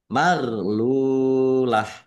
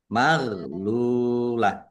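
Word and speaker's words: مَغْلُولَةٌ: Maghlulah. Gin sukun ini bukan qalqalah. Jangan dipantulkan ya, jangan dibaca maglulah.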